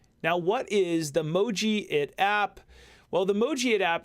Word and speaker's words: Mojiit: parents dear kids have the moji it app will this app is pronounced e emoji it but remove the e